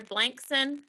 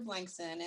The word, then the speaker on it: Blankson: would like to speak dr blankson am i pronouncing that correctly yes good yes that's correct this is dr blankson and thank you for